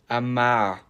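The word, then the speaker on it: Amager: the way it's pronounced Amar where did the last three letters go don't ask me then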